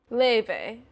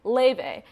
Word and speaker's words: Laufey: Oh, I'm gonna look up how to say her name. This is ridiculous. Laufey. Okay, that's so much easier than whatever crap I was doing. Laufey.